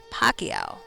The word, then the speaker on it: Pacquiao: Pacquiao. Okay, I see, I see. Yeah, that makes more sense. The Q in there.